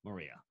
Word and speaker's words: Moreira: This week, we're going musical with a superstar, Moreira. You're getting really good at that name. Yes, I am, after saying it this many times. Yeah. Spells it with an R, pronounces it with an H.